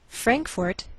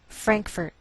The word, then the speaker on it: Frankfort: Frankfort, Kentucky. Now some Americans may change the second syllable of the capital, and you may hear Frankfurt. Do you hear the difference?